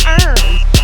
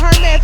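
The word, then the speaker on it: Hermès: They was like, Tasha, it's not Hermes. It's not Hermes. I was like, what is it? They said Hermes.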